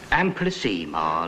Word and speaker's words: amplissima: Amplissima, Latimer. Ema, not Ima.